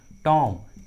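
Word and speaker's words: tomb: जब भी किसी इंग्लिश वर्ड्स के लास्ट में बी रहता है और उस लास्ट वाले बी के जस्ट पहले एम रहता है तो बी का उच्चारण नहीं करते, बी साइलेंट होता है।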